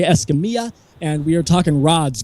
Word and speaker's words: Escamilla: Sorry, Escamilla. Escamilla. See, it's almost Italian. The two L's are pronounced like a Y. All right, Escamilla.